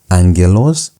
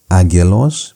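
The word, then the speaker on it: ἄγγελος: For example, you have the word angelos. It's not agos because you have what we called gamma nazo.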